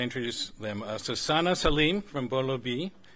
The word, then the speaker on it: Bolo Bhi: Sana Saleem from Bolo B. Is that how to pronounce it? Okay. Or close enough. Or is it Bai? Bolo Bai? Bolo B. Okay.